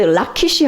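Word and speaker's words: לכיש: 나오고요 준마는 말이 나오는데 이게 라키스 라키시 하고 그다음에 여기 준마가 케이거 그래서 라키시 레키시 예 두 단어가 어떻게 보면은 발음이 굉장히 비슷하죠 그래서 라기는 다시 말하면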